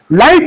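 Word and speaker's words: light: लाइट में जी और एच दोनों क्या है?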